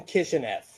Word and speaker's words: Kishineff: everyone would you please my name is kitchenette it's pronounced just like it's spelled although it's scary when you look at it it's very scary